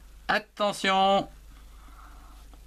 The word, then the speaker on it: attention: Attention. A majuscule, A-T, at, T-E-N, temps, T-I-O-N, sion. Attention. Ici, il y a une syllabe, A-T, at, T-E-N, temps, T-I-O-N, sion. Attention, ici, T-I-O-N se prononce sion.